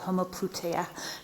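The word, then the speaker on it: homoploutia: You've in your forthcoming book, you write about a new concept called homopluteia. Am I pronouncing it correctly?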